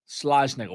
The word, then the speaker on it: Schlossnagle: Schlossnagle. What a freaking It's pronounced BSer.